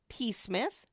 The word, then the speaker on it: Psmith: move the name is p Smith P Smith the p is silent P Smith PE Smith Miss Clarkson brooded over